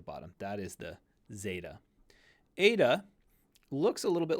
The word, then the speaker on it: eta: n with some extra this is a long e sound Ada a long e so it's similar to the Epsilon and it's that e sound but while the Epsilon is a short e the Ada is a long e so you're going to want to give it that extra length here coming down the